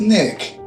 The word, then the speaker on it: Nick: Now you're in for a good hurting, cause the name is Nick. It rhymes with tick.